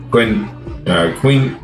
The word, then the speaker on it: quinoa: Crop rotation and fertilization were used to produce crops including potatoes, nuts, maize, pepper, avocados, tomatoes, and quinoa. I can't pronounce.